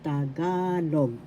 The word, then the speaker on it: Tagalog: First syllable ta, second syllable ga, third syllable log. The accent is in the second syllable ga, so you pronounce Tagalog.